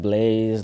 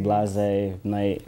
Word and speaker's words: Blasé Night: Some people pronounce it wrong, like, what's that, Blaze? Like, I'm like, Blase Night, so.